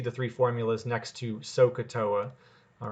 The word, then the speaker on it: SOHCAHTOA: If you can remember the word SOHCAHTOA, and that's how it's pronounced, right? There's like three parts to it.